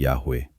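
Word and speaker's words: Yahweh: Ang mga eskolar ng bibliya ay patuloy na nagtatalo kung ano ang tamang pagbigkas ng pangalang ito. Ngunit ang karamihan ay sumasang-ayon na ang pinakamalamang na pagbigkas ay Yahwe.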